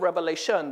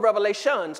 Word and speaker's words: Revelation: And so we go into the book of Revelation. The word revelation is actually singular and not plural. As most people pronounce the book. Sometimes people say, well, turn to the book of Revelations.